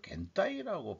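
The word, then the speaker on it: 現代: 근데 겐따이가 뭐지 했는데 이게 현대를 겐따이라고 발음하네요.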